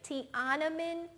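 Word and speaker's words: Tiananmen: I was afraid of listen to the pronunciation tanaman Square say it with me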